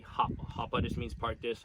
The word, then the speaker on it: hapa: The proper pronunciation is supposed to be Hapa.